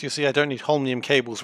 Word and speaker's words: holmium: There's no Ian in holmium. I am saying holminium.